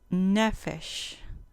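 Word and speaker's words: נֶפֶשׁ: o jadear 53 15 neffice con acento en la penúltima sílaba neffice sustantivo femenino ser viviente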